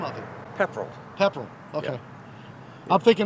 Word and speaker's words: Pepperell: How do you pronounce the name of it? Pepperell.